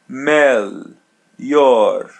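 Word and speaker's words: melhor: Melor mel meor meor. Letter L is pronounced as English L. Mel and letter H is pronounced as Y. Melor.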